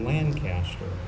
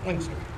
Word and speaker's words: Lancaster: It's spelled the same way, but they call it Lancaster. So they need some further training on how to properly say Lancaster.